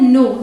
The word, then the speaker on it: know: KNOW, इसे pronounce करते हैं नो। स्पेलिंग पे ध्यान दीजिएगा, के साइलेंट है, इसकी स्पेलिंग आपको याद करनी पड़ेगी कि नो की स्पेलिंग होती है KNOW, क्योंकि के साइलेंट होने के बावजूद NOW को यहाँ नाउ नहीं पढ़ेंगे, इसे आप नो बोलेंगे।